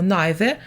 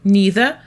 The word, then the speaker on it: neither: auxiliaryb Plus subject Отже ми використовуємо nither When we agree with a negative statement ми використовуємо оцю neither або ще це слово вимовляється як neither коли ми погоджуємося із